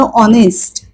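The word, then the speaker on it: honest: शब्द पाहूया समजा म्हटलं ऑनेस्ट ऑनेस्ट आता ऑनेस्टचा अर्थ आहे प्रामाणिक आणि स्पेलिंग आहे एच एन एसटी ऑनेस्ट एचचा उच्चार काय असायला हवा ह पण आपण नेस्ट अस नाही म्हणत तो ह उच्चारच करत नाही हे अक्षर उच्चार होत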